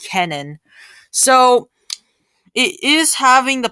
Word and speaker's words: Kenan: storm or winter storm canon which is k-e-n-a-n i'm not sure if i'm pronouncing it right but i believe it's called canon so it is having